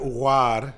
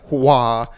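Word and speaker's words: Aouar: It's Houssem Ouar. Ouar.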